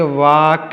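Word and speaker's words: walk: क्या पढ़ेंगे टू वाक इसको पढ़ेंगे वाक इसको वाल्क नहीं पढ़ेंगे इसमें एल साइलेंट है वाक पढ़ेंगे तो वक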